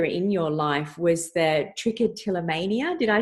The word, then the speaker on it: trichotillomania: about much earlier in your life was that trichotillomania did I say it right yes trichotillomania yes that's correct no look I think it